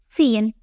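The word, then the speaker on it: سين: The first one is Sin. It has no dots and produces a soft, continuous hissing sound. It is like the snake sound.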